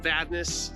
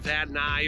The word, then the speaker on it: Vadnais: Yes, Vadnais. Some people say it like Vadnais or whatever. I don't know.